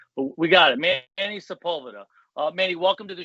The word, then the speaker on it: Manny Sepulveda: two hands you could probably count the people butchered your name but we got it Manny Sepulveda uh Manny welcome to the show congrats on